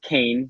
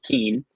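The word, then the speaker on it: Kean: And yes, it is pronounced Kane, not Keen.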